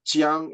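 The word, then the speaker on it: 将: A shogun is the Japanese pronunciation of a Chinese character, with what is pronounced jiang in Mandarin, and simply mean a general.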